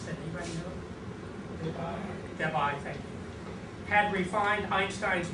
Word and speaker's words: Debye: Within the next few years, Joseph Debye, how to pronounce that? Anybody know? Debye, thank you.